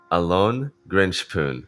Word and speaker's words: Alon Grinshpoon: Today we got Alon Grinshpoon.